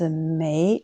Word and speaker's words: 没: Ensuite, le mot 美, il y a deux prononciations. Quand on le prononce 美, 2e ton, c'est un adverbe de négation.